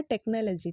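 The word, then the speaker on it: technology: है इसका सही प्रनंसीएशन जो है वो है टेक्नोलॉजी टेक्नोलॉजी ठीक है देख रहे हो यहां पास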